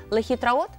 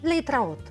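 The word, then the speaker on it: להתראות: Але вони говорять скорочено, вони кажуть «Лейтраот». Лейтраут. Да, вони роблять таке скорочення, є мова розмовна, є літературна, то вони деякі слова так вони трошечки скорочують і кажуть лейтраут, до побачення.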